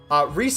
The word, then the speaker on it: Rise: Rise is how you pronounce that. Rise. I overemphasize say, so it rhymes with gay a little bit better, but it's Rise.